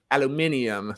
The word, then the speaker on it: aluminium: But in American and Canadian English, you're talking there you go. aluminum. For everyone else, it's aluminium.